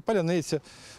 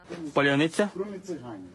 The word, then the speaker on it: Паляниця: Я так розумію, що отниця, оце вони не можуть цього вимовити. От ці слова, що полуниця, паляниця, залізниця, криниця, ну, москалицю, криницю, там багато чого можна понапридумувати.